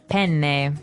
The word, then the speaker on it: penne: All right, so how do you pronounce, we said penne in English, in American English, but in proper Italian it would be? Penne. Penne. So you double pronounce the consonant.